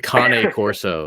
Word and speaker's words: Cane Corso: it's whatever it's like people that have the cane corso it's a kane corso it's like uh okay it's still gonna eat